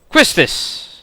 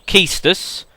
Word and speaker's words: Quistis: Quistis, apparently. Or Keistus. I should say Keistus. I believe it's actually pronounced Keistus, but I have always said Quistis, which I think is right.